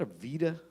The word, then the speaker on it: Aveda: Is that a Vita? That's how you say it. Aveda.